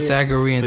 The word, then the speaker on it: Pythagorean: Pythagorean theorem.